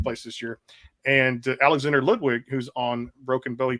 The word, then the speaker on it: Ludwig: So I didn't know if people knew that, but yeah, it's Ludwig, and I guess Ludwig is the correct pronunciation.